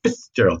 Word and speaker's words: Fitzgerald: to pronounce that way Fitzgerald that's an actual authentic Irish pronunciation it's Gerald like Protestants